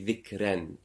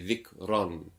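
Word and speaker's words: ذكرا: So it won't be ran, it won't be dhikran, it will be dhikran with a rounder mouth.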